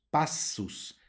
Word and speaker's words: passus: palabra con doble spasus passus Ok hay que pronunciar las dos heces aunque sea